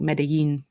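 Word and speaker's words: Medellín: I do believe it was in Colombia, close to, I believe it's pronounced like Medellin.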